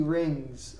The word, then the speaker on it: rings: Every day he ring. No. Every day he rings. Okay? We have to make sure to pronounce that last S. He rings.